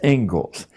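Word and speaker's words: Inglis: and education is named as it is the Engles lecture looks like English but it's pronounced Engles and I would like to read you the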